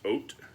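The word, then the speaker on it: Haut: And so this is oat bllandville. It's not the hot Blandville. It's oat blland. Yeah, it is that that's how it's pronounced is is H A U T is oat.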